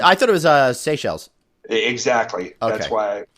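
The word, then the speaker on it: Seychelles: right the Mal are are threatened the shake shakial I always pronounce that wrong they is it I thought it was uh SE shells exactly that's why like I said I always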